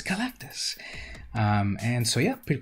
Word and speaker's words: Galactus: used to call him when i was a little kid now i know better that his name is galactus um and so yeah